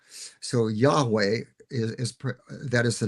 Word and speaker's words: Yahweh: to God as as Yahweh. That's the that's the pronunciation scholars use for that name, although we don't exactly know how it was to be pronounced.